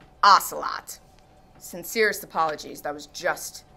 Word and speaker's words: ocelot: it turns out that the correct pronunciation a lot is actually ocelot sincerest apologies that was